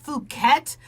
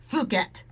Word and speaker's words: Phuket: I'm going to just pronounce it Phuket, but it's pronounced the other way. Like, just Phuket. Okay, but right, okay, I didn't say it. I didn't say short U. I said long U.